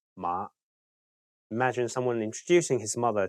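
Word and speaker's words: 馬: In Cantonese, mother is ma and horse is ma.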